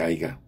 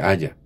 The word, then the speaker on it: haya: No se dice aiga, se dice haya, ¿verdad?